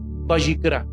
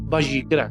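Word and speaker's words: ויקרא: Entonces el libro para ellos es Bayicra. Bayicra, que yo no la pronuncio como ellos, pero Bayicra.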